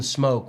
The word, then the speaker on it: Smoak: It's like Justin Smoke with an A instead of a Smoke. It's Smoak.